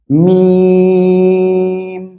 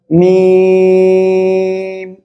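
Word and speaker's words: ميم: এই অক্ষরটা কি জানেন, মিম, চার আলিফ টেনে পড়তে হবে, দুই ঠোঁটের শুকনো অংশ, অর্থাৎ আমি যদি একবারে বলি এই যে বাইরের যে শুকনো অংশ এই জায়গা থেকে উচ্চারণ হবে, মিম, আমার সাথে বলেন মিম মিম।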